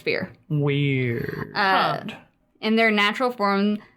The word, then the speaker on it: Firre: are the Fear, spelled Firre. Firre. Fear. Pronounced Fear.